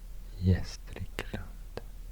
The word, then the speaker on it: Gästrikland: Gästrikland. Because the second letter is Ä. It's A with two dots. Ä. That softens the previous consonant.